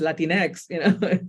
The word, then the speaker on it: Latinx: But it's not even the Spanish X, it's just Latinx, So I didn't use it for a while.